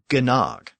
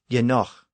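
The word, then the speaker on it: genōg: enough was spelled Genog, so it looked like it should have been pronounced gnog. But remember that the initial ge was the prefix pronounced ye, and the g at the end represented the guttural ch sound. So the word was actually pronounced yenoch.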